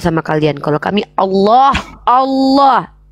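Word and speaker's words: الله: kalian Kalau kami Allah Allah lamnya tuh kalau ada sama tasydid tuh ada tiga tuh Allah ditafkim bacanya ditebalkan Allah bukan Alah alah ya bahasa Padang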